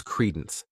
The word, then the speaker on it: credence: The next noun is credence. This word has 2 syllables, and the stress is on that first syllable. Credence.